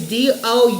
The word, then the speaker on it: Doux: It's d o u x. Some people probably pronounce it differently because it does not look like it. It'll say do, but it says do.